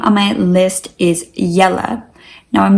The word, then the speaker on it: Jelle: Now, I'm not sure how great this would work in an English context, since in English you would pronounce it JELLE, which maybe would be a bit strange, kind of like Jello, but I just love this name.